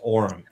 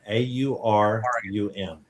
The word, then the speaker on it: Aurum: So the name again is Aurum, AURUM.